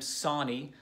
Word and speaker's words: Sahni: I am Sawney i pronounce my last name Sawney like Johnny kind of a weird last